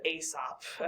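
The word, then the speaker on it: Aesop: His name was Asop. And that's why it's spelled kind of crazy is because that's Greek.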